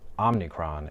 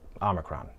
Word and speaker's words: omicron: so many people make the mistake of saying OMNIcron instead of omicron.